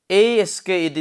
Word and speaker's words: asked: For example, asked, that is asked, is it? Well, asked, to sound is there at the end. Final sound is to. This past form is pronounced as to.